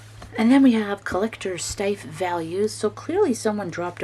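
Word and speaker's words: Steiff: me Stif, Stif, or Stiff, as long as you like our stuffed animals. It is okay with me. Editor's note, the correct pronunciation is phonetically Stif.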